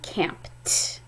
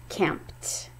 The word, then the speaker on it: camped: weekend last weekend we camped you hear that t sound camped so the base word